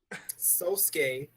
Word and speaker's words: Sosuke: Jake mispronounced Aizen's name. Sosuke, excuse you.